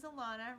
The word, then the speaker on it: Alana: again my name is alana rhymes with nirvana i'm an empath happiness